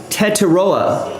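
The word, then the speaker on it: Tetairoa: Uh, Wikipedia has a pronunciation guide. T-Mac Tet McMillan is right. Teteroa. Tettoa McMillan.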